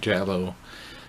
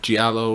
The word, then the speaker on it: giallo: movie is yellow and if you don't know what jello at giallo or jolly or lots people pronounce it differently it's an Italian thriller